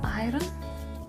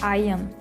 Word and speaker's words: iron: And for that I have already prepared the iron, or you say iron. When I came to UK first, I remember I was saying iron because it has letter R, and in Lithuania we pronounce R. So like my name is